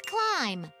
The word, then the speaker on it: climb: C-I-M-B. Climb. No, it's climb. There's no B sound at the end. I bet B is the silent letter.